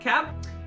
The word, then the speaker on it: Cap: I was like, hello, I am the granddaughter of Michał Kap. It's pronounced Sup here in Poland, but in Canada, it's Cap.